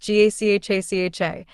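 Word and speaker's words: Gacaca: In 2001, the government began implementing a participatory justice system known as Gakaka, pronounced GACHACHA, in order to address the enormous backlog of cases.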